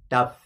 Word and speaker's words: daf: to say that because most people spell it d-a-f-f and it's supposed to be pronounced duff anyway go ahead so you're